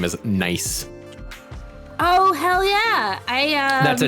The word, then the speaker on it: gneiss: I was in middle school science class, and the teacher put up the word GNEISS up on the board and says, "Does anybody know how to pronounce this word?" And I said, "That is a nice rock."